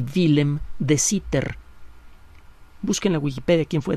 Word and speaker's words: Sitter: Y entonces llegaron, por un lado, algunos investigadores teóricos como Albert Einstein y Willem de Sitter. Busquen la Wikipedia quién fue de Sitter. Se escribe Willem, como suena, pero con W y con M al final, es Guillermo en holandés.